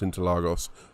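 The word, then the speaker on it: Interlagos: you and allegedly literally that is how you pronounce into lagos for the brits in the portuguese accent ish yeah we've got a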